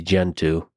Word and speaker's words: Gentoo: It used to be Gentoo. And the reason I say that is cuz it rhymes with go-to.